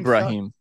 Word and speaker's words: Ibrahim: How do you pronounce his last name? Ibrahim. Ibrahim, him and Howie go at it a little bit.